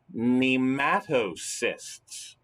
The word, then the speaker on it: nematocysts: experience a specialized structure that they possess called nematocysts check it out look at that word and